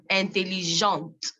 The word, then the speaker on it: intelligente: The T is pronounced because the E is at the back. Intelligent, intelligente. Content, contente.